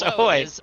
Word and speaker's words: ahoj: Their most commonly used word for hello is ahoj, which is pronounced ahoy.